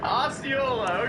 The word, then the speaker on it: Osceola: Osceola. Osceola, okay, we got that. Bro, what was this? Why did Google recommend him number 2? Osceola County, Florida.